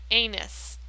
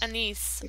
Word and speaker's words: anise: Anus, how do you say that? Anise anise.